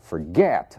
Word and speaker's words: forget: Forget, a sílaba tônica é o get.